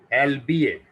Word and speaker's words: albeit: इसको पढ़ते हैं एल्बिएट। ठीक है, इसके दो प्रोनाउंसिएशन है हमारे लिए जो मोस्ट सूटेबल है, दैट इज, दो प्रोनाउंसिएशन है इसके।